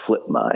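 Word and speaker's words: FLPMA: It's pronounced flipma and it's federal land policy act.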